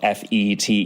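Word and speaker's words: fête: would be fate spelled Fe t e you know the weird to me the weird English pronunciation of what I always think of as fet those country Fates that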